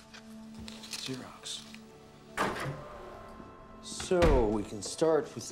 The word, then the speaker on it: Xerox: It's pronounced Xerox. Xerox.